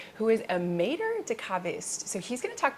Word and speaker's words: caviste: So I am a caviste. We say wine merchant, but in French it's caviste.